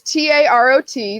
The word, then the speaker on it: tarot: uh ter tarot card so yes it's it's t-a-r-o-t that's how it's it's how it's spelled but it's it's pronounced tarot sure there